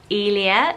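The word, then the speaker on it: Aelia: This is my favourite one on the list, and it's a girl's name, and it is the name Elia. Elia, so like Delia without the D, and it's got an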